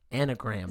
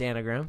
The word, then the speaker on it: enneagram: talk about that yeah how do you pronounce that i think it's anagram anagram i always say eniogram it might be i